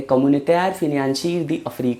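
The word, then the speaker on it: Communauté Financière Africaine: CFA Frank को French में pronounce करते हैं कम्युनिटेयर फिनेंशियर दी अफ्रीक फ्रैंक।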